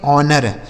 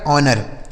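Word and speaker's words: honour: ऑनर। देखिए यहां एच जो है साइलेंट है।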